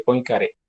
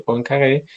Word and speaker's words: Poincaré: llama la sección de poincaré la pronunciación es francesa no es un encaje bueno